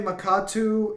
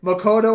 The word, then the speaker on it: Makoto: Makoto and Futaba. The first one you got correct.